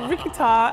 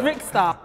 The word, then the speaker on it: Rickzta: T'as dit "Rickita" et c'est Rickzta Rickzta World On l'a